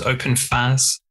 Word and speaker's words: OpenFaaS: just clear and cool and lovely did i pronounce open fast correctly you did say how i say it because open fast can you describe what it is yes open